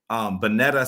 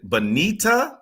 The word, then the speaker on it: Bonita: By the way, I'm seeing now that I have been saying Bonetta Sutton, and it is Bonita Sutton.